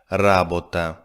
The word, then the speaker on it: ра̀бота: Note that the noun has a different syllable stressed. “ра̀бота” (work) If you could excuse the tautology, let’s make another sentence.